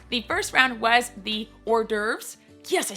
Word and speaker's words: hors d'oeuvres: The first round was the hors d'oeuvres.